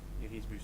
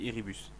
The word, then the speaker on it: Irisbus: Irisbus, pardon. Enfin, ça s'écrit Irisbus et ça se dit Iribus. Enfin, moi je dis Iribus.